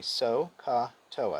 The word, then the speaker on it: SOHCAHTOA: what we're interested in this is the one sohcahtoa repeat after me so ka toa sokatoa that's what you need to remember to